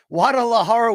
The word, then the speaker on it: Guadalajara: Guadalajara venue. What Guadalajara we doing here? Great city, never been. Yes, thank you for the correct pronunciation, Luke Thomas.